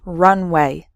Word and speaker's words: runway: speed before taking off so the first word has three syllables runaway and the second word has just two syllables runway completely different meanings okay